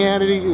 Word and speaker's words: Hannity: class it's moving danny hannity is rhymes with insanity but we're not going